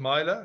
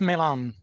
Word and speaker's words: Milan: is a good one so is it mila is that the right pronunciation mylac can you unmute yourself yes my full name is milan this is oh sorry